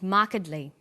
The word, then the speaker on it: markedly: formal academic language but when you come across longer words you have to learn which syllable to stress for example we say intelligent increasing and markedly notice that when you